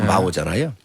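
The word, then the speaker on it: 毛: 이제 중국 발음으로 마오잖아요.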